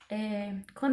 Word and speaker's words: quando: Quando eu pego a transcrição da palavra quando, esse A, ele é um pouco nasal.